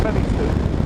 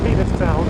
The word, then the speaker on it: Penistone: Well, I should explain, we are going to Penistone, and that is pronounced Penistone, not Penistone.